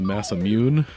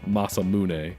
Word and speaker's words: Masamune: Okay, I always called it the Massamune as a kid because I didn't know any better, but it's probably supposed to be something more like Masamune, right?